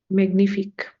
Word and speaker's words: magnifique: Magnifique. Magnifique, non. Magnifique. There was this video in the phonetics course explaining the pronunciation of GN. Whenever GN comes together, the pronunciation is gne, gne, magnifique.